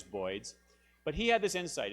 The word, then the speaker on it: boids: he said Birds he he pronounced it voids and that's this is that's how that's how the this computer simulation came to be known as boids but he had this